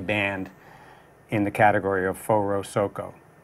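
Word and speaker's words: Forosoco: we're the only band in the category of four oh-seok oh right that's how you say it for our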